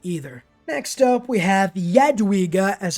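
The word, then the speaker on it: Jadwiga: definitely not terrible either next up we have yadwiga as it's pronounced and let me just riga's lithuanian union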